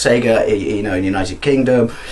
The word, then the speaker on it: Sega: their ass and go why do people you know say Seager it really really really annoys me it's not Seager it's Sega no it's Seager it's just not Seager where you are and